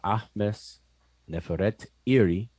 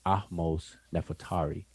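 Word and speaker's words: Ahmose-Nefertari: To the left is an image of Ahmes Neferet Iri, which is her name, but we pronounce it conventionally as Ahmos Nefertari.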